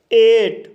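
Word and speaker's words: eight: एट, एट शब्द में EI के बाद GH आया है, इसलिए GH साइलेंट रहेगा, इसलिए इसे एट पढ़ा जाता है।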